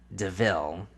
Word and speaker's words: DeVille: It was so like, it's spelled like devil, but it's called a DeVille.